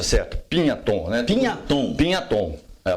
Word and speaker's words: Pignaton: A pronúncia certa em italiano é Pignaton.